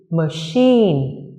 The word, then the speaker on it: machine: đó là danh từ machine. Machine. Danh từ này mặc dù là danh từ nhưng lại có trọng âm rơi vào âm tiết thứ hai.